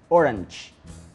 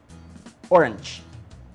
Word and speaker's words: orange: color y recuerda que todas las palabras en inglés que terminan en g se pronuncian con che orange cuando dices la palabra